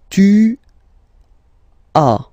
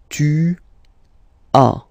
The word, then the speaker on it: tu as: Okay, second one, tu as. Okay, as usual in French, final S is not pronounced. Tu as. Tu as.